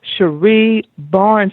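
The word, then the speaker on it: Cherie Barnes: huge that she is board certified she is Sheree Barnes did I pronounce that correctly that's correct all right I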